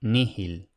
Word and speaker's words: nihil: Luego tenemos la letra H, que en latín clásico esmerado debía de pronunciarse como una aspiración. Entonces, por ejemplo, tenemos homo y nihil. Ahora bien, es aceptable no pronunciarla, aunque, como digo, los romanos cultos se esforzarían por conservarla.